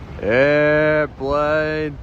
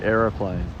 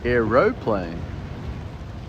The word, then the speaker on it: aeroplane: Airplane, people. Airplane on my scope. But that's how Americans say it. We say aeroplane. We put the O in. We don't say airplane, we say aeroplane.